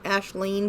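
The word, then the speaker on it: Aisling: own name is Gaelic it's it's Ash Lane but it should be AIS l-i-n-g my mom just spelled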